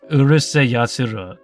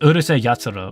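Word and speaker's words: Urusei Yatsura: space this out here I read it like how it is Urus yat that's not how you say it it's Ur yat but whatever they can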